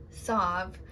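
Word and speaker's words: salve: And yes, I know most people pronounce it Solve. I just don't. I pronounce it Solve. Anyways, what she says is this Solve is good for brush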